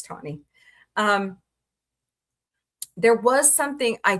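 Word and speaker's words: Tawny: Um. Sorry, Tony. I always say your name wrong. Please don't hurt me. It's Tony.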